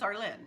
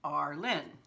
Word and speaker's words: Arlene: Because a lot of people, Arlen or Arlene or Arlena, or oh my gracious, I've had all kinds of versions of Arlene. And the accent is on the Lynn, Arlene, so.